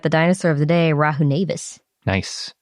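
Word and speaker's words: Rahonavis: dinosaur of the day rahu nevis nice i think we've been pronouncing that one wrong a lot like raha navis it's possible our pronunciations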